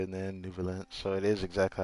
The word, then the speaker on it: Neuvillette: about whether the cases are treated with due reverence, we have the absolutely just and honorable Chief Justice Neuvillette. Ah, so that's how you say it then, Nouvelette.